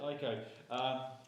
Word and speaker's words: Ico: how you pronounce it? Ico.